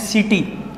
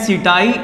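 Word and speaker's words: setae: इसको बोलते हैं सीटी, स्पेलिंग है सीटाई, ए साइलेंट, इसको हम बोलते हैं सीटी।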